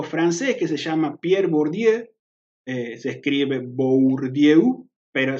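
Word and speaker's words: Bourdieu: años un sociólogo francés que se llama pierre bordieu se escribe por diego pero se dice por día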